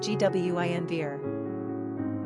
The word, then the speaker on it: Guinevere: Pronunciation, Gwynvere.